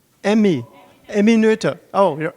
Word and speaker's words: Noether: Emmy, Netter, Emmy. Emmy Noether. Oh, you're right. So sorry, my pronunciation is super bad.